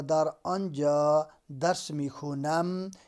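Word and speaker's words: خوانم: در آنجا درس می خونم، یہ خانم ہے لکھا ہوا لیکن اس کا تلفظ ایرانین خونم کرتے ہیں، تو در اونجا درس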